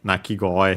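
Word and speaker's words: 鳴き声: By the way, they mentioned the accent now of nakigoe here. Actually, again, the accent on the first mora of the second word part of the compound, so on the go, could be simply because of koe, the accent of koe on its own, but again, more likely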